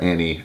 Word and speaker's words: Anna: 2 daughters named Anna and Lola, although in the mountains they would pronounce that Annie and Loli, and then a son named William.